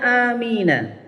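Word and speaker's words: آمين: Tulisannya amina, adat panah bacanya amin, itu bacaan mad aridhi lisukun kalau di istilah tajwid.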